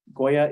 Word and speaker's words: goya: it it's called Goya Goya is bitter melon uh it doesn't really look like a melon it looks like a gourd but it's glitter melon Goya g-o-y-a like the brand like the brand yeah